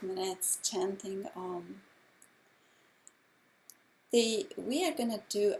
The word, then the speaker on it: Om: and finally we chant Om for 5 minutes before the meditation. Om is the sacred sound of creation. It is 3 separate syllables, A, U, and M.